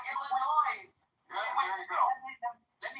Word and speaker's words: Illinois: Illinois, not Illinois.